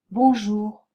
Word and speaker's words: bonjour: bien l'erreur 7 maintenant le N des voyelles nasales ne se prononce pas vous avez tendance à le prononcer faites attention on dit bonjour cette voyelle nasale se